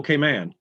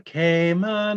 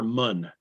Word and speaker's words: Cayman: little k man uh i've always heard that commercial the k man islands no it's grand cayman little k man and then if it's in the beginning as an adjective you can say cayman cayman brac and cayman islands but it's never munn ever and i didn't know